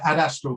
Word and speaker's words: Adastral: How do you pronounce that? Adastral Consulting Limited.